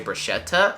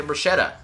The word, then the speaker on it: bruschetta: it you can say bruschetta or you can say bruschetta the the same sound as water better letter and all of that when the